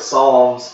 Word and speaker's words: Psalms: I'm going to say the P is Silent. The book of Psalms contains examples of others who have expressed anger, questions, or pain to God.